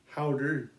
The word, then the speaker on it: Häuter: This is Häuter spelled and it's H A U T E R, but it's pronounced like H O W D E R.